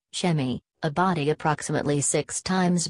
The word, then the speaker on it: Sa.A.Me: Sirius C was once orbited by a planet, which by its inhabitants called Sa.A.Me, pronounced Shemi, a body approximately six times bigger than Earth.